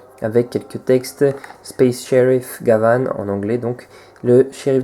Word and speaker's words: Gavan: Que dire sur le personnage, donc à savoir que Gavan en fait en japonais, parce que les japonais ne prononcent pas vraiment le V, donc ça se prononce plutôt Gaban, comme un B.